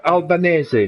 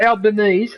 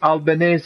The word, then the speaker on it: Albanese: Albanz, not Albanese. Albanz is how you pronounce his name.